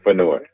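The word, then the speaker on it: Fennoy: by the legendary Dave and I hope I'm pronuncia his last name is it fenoy feni yes Dave feno thank God by Dave fenoy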